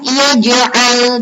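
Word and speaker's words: يجعل: Dinamakan bacaan qalqalah sughra sebab huruf jim berharokat sukun di tengah kata. Cara membacanya yaitu dibaca dengan mantul. Yaj'al, yaj'. Nah, itu disebut dengan qalqalah sughra.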